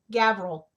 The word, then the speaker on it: Gavril: into round rock um how do you say gabriel's name gavril it's gavril fidei that's his name um would i have